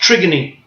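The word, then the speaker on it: trigone: But that thing is called the trigony. It looks like the word trigon, but it's a Greek word. It's pronounced trigony, kind of like the Greek play Antigone.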